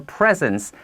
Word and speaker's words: presence: need to grow our presence on social media social media searching for now presence sounds exactly like the word gift presence on social media christmas presents it's the same pronunciation social media is also